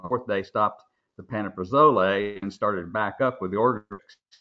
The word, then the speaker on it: pantoprazole: I mean, I didn't know there was, and by the way, the pronunciation is pantoprazole.